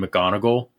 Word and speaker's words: McGonigal: Jane McGonigal. And she is really, like, for real, that's her name? Yeah, like Professor McGonagall from Harry Potter.